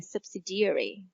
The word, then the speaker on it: subsidiary: Từ này đọc là subsidiary. Nhấn ở DI, subsidiary.